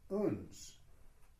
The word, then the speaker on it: uns: Somehow, what the Sufis say is the word uns, that one is invited into the intimacy of the king.